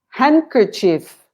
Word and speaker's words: handkerchief: i omit the preach handkerchief this there's no hand it's funny because it should be a hand there why do do we omit the letter d handkerchief i don't know so without the d no and han it